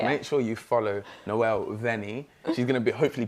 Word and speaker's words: Vanyi: social media and it's literally my name noel vanni it's spelled v-a-n-y-i because i have to say it because it's a very weird last name so there you go guys make sure you follow noelle vennie she's going to be hopefully performing more this